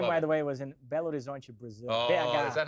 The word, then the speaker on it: Belo Horizonte: I just that game, by the way, was in Belo Horizonte, Brazil. Oh, is that how it's pronounced? Wonderful. Belo Horizonte.